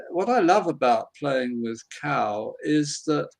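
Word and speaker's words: Qow: efforts into which is called cow and it's spelt q-o-w and if that sounds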